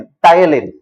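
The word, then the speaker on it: ptyalin: Salivary amylase का दूसरा नाम पी से शुरू होता है लेकिन पी साइलेंट है. पी टी वाई ए एल आई एन, टायलिन.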